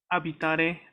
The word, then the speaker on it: abitare: Abitare, recuerda que la B italiana es fuerte. Abitare, Ok. ok. ¿Ti Y la piacerebbe abitare a Milano? ¿Cómo respondiamo? sería, ci mi piace abitare?